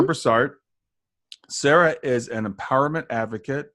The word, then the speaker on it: Brassard: me today Sarah Brassard, and I think that's correct pronunciation of your name, Sarah. Mm-hmm. Sarah Brassard.